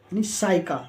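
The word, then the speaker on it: psyche: वाई सी एच ई साइका यानी आत्मा कहा जाता है या सायका जो बोलते हैं वो आत्मा को कहते हैं या मानस को तो यहां पर पी जो है वो लेटर साइलेंट है नेक्स्ट एग्जांपल आपका पी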